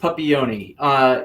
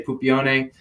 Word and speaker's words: Puppione: My last name is pronounced Puppione here in the United States. In Italy, we would say Puppione, hence the reason why we changed it for the American playground.